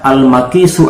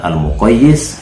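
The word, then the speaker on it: المقيس: atau Alf dan alaslu jadi sekali lagi cara bacanya almaqis bukan almqayis dan almaqisu alaii bukan almqayis alai kemudian Syarat yang ketiga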